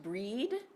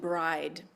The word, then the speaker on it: Brigid: strongly associated with the goddess Brigid also sometimes pronounced breed and bride the goddess Brigid the